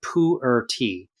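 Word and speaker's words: pu'er: something as a kind of Chinese tea called poo or tea it's spelled p u apostrophe e r h it's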